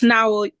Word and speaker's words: Nao: Nao I need help it's now now now yeah you can call me Naomi Naomi yes I didn't